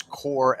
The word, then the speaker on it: corps: green lantern corps um that word you keep saying is not corpse as in dead body it's core as in the core of a planet please stop saying corpse